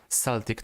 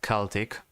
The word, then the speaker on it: Celtic: probably kill me for pronouncing Celtic not Celtic even though both pronunciations are correct so the Celtic tradition